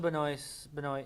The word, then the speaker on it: Benoist: Regardless with the frustration with the screenplay for this episode, I will say Melissa Benoist, I can't pronounce it.